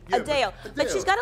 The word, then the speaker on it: Adele: casting the proper concert did you know that we've been pronouncing Adele's name wrong Adele is it a deli it's supposed to be Adele Adele Adele how else can you say it he came and asked me how I say my name and I was like Adele Adele Adele like uh actually hyphen d-a-l-e a Dale but she's got like